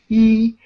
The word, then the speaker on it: 一: When you see this stroke, which is horizontal stroke, it means the first tone. E. It's a high pitch.